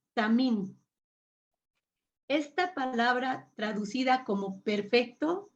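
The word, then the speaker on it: תמים: La palabra traducida como perfecto en el original es la palabra número 8549 y se pronuncia tamim.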